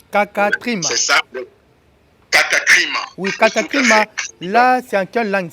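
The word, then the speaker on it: κατάκριμα: rapport à cette notion de condamnation, ça s'appelle katakrima. Katakrima. Katakrima. C'est ça. Katakrima. Oui, katakrima.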